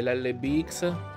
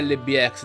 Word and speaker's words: LBX: per rendere più veloce l bx o lb ex si dovrebbe dire lb ex devo abituarmi a dire alle bit ex perché hicks non si legge è chiuso in effetti lo us